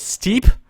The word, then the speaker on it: Steep: and they told me the correct way to pronounce this is steep just steep so not Steepy or anything this it's just Steep and that's the map